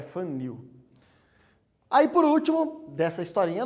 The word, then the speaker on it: Van Niel: A pronúncia melhor é Van Niel.